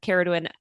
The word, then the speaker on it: Caradwyn: Yeah, that C is a hard one, like a hard C. But Nawala and Caradwyn, they're constantly around helping Feyre in the most gentle way, as they always have.